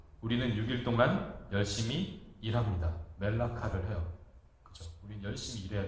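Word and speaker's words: מלאכה: 일이라는 단어는 발음을 어떻게 하냐면 멜라카. 왕은 멜레크. 그러니까 뭐 듣기에 되게 비슷하잖아요, 그죠?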